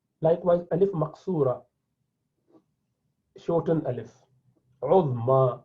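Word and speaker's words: عظمى: Uzma, you're pronouncing alif at the end.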